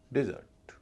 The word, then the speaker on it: desert: Noun में पहले से पर स्ट्रेस है, डी का उच्चारण डे हो रहा है। वर्ब में पहले से पर स्ट्रेस नहीं है, डी का उच्चारण डी हो रहा है, डेजर्ट, डिजर्ट।